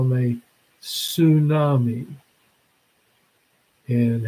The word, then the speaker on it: tsunami: also call them a tsunami and how do you spell tsunami starts where the T doesn't it but they don't ever pronounce the T and you kind of